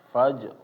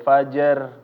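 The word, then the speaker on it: الفجر: Orang-orang membacanya secara mudah aja ya. Jadi wal 'asr, asr ya, atau wal fajar, jer ya. Jadi kayak qalqalah sebetulnya. Padahal ini keliru ya.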